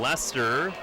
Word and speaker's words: Leicester: John Lester, it's spelled Leicester, but Lester will make his 6th start.